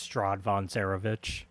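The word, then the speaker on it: Strahd von Zarovich: uh how do you say that name it's strad Von cerovich so okay cool sick yeah it's our buddy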